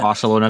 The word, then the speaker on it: Barcelona: Literally, so Spanish-speaking countries, they will pronounce certain letters differently. So, some people say Barcelona. I was going to give the example of Barcelona v. Barcelona. Literally, that's just the dialect. So Sevilla, it's not necessarily pretentious. It just means you're from a certain area, and that's how they say that letter.